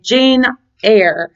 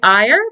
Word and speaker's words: Jane Eyre: Jane Eyre is how you're supposed to pronounce it. I always say Eyre because it's like a parody because she's like really angry at the beginning.